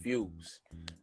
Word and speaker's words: FWZ: My name is FWZ, but it's pronounced Fuse.